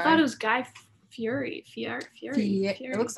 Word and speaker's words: Fieri: Guy Fieri, his name's actually pronounced to rhyme with confetti. So like Guy Fieri. Isn't that the most insane thing? Confetti? Yeah, like Guy Fieri.